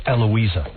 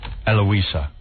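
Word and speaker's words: Heloá: Her name is Hloa Vala, but she the H is silent. So it's Eloa. Oh, Eloa and she's a correspondent for Global TV in Brazil.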